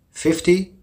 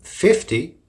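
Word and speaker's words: fifty: especially as the final end of 15 is likely pronounced and hard to hear well the difference is in the stress and the short and long e for example 50 the stresses on the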